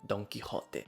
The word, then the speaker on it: Don Quijote: pronunciada da forma correta Don quiote é um nome espanhol eu sei como pronunciar não tem tradução pro inglês por que que eu pronunciaria de uma forma errada mas aí você pergunta